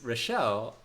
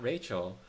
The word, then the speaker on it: Rochelle: Your name is Rochelle, it not is. not Rachel.